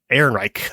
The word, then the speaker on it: Ehrenreich: Ehrenreich.